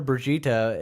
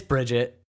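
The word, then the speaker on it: Brigitte: I don't know why everyone keeps calling her bruschetta it's it's --brush eat it's Bridget yeah it's spelt Bridget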